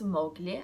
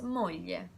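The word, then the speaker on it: moglie: mirror for example Moira Moira means wife I don't pronounce Mowgli I pronounce Mallya Findo son or philia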